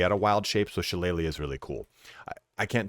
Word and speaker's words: Shillelagh: of Wild Shape, so Shillelagh is really cool. I can't tell you when I was a kid, I used to pronounce this Shalaga.